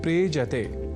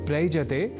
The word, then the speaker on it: प्रेजते: यहां प्र उपसर्ग के साथ एज्री इस दीप्ति परक अर्थ वाले आत्मनीय पदी धातु का प्रयोग है। दोनों के मेल से शब्द बनता है प्रेजते। प्रयजते नहीं।